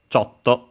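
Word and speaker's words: ちょっと: Then we have a chto which I've mentioned before which means uh a little a bit slightly the accent is on. So chto.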